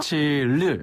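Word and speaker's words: 星期日: 일요일의 그 일자 발음이랑 조금 비슷한데 르라고 합니다. 르. 르. 한 번 더. 르. 르가 다 나오려다가 못 나온 소리네요. 그렇죠. 입안에 르. 멈춰있는 그런 르 발음. 네. 그래서 싱치르.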